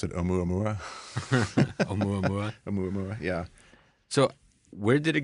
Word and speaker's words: Oumuamua: I pronounce it Omuamua. Omuamua? Oumuamua, yeah.